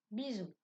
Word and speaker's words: bisou: Et les mots maison, chaise, bisou. Dans tous ces mots, le S se prononce Z car il se trouve entre 2 voyelles.